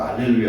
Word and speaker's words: 알렐루야: 우리 찬송할 때 할렐루야 할 때도 있고 알렐루야 할 때도 있는데 이게 뭐예요 그게? 할렐루야 뜻이 뭐예요? 여호와를 찬양하라. 할렐루야는 히브리어고 알렐루야는 라틴어, 로마자에 똑같은 내용이에요. H 발음이 로마자 라틴에서는 발음이 안 나와요. 그래서 그런 거예요.